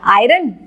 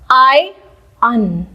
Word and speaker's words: iron: आयरन नहीं, हम इसको बोलते हैं कि हमने अपने कपड़ों को आयरन किया। किस तरीके से हम इसको प्रोनाउंस करते हैं? आयन, आयन, आयन, आयन।